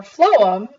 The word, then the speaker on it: phloem: I like to remember phloem is that even though it starts with a pH the F sound at the beginning of phloem is similar to food and the nutrients transported